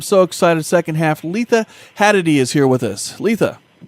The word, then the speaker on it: Hadady: Our guest tonight, I'm so excited, second half, Letha Hadady is here with us. Letha. Hiya, Todd, and hiya, Night Owl. Yes, did I say it right? Did I say it right? Yeah, Hadady. Yeah, sure.